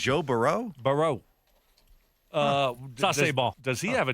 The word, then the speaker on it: Burrow: Is that the Louisiana pronunciation? That's the Louisiana pronunciation. Joe Burrow.